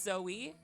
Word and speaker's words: Zoe: Is it Zo or Zoe? Cuz somebody said on the chat that Zo and Zoe are pronounced the same. I'm just going to say Zo. It says Zo. Jokes on you. I don't have tentacles or I wouldn't click. It's Zoe. Zoe.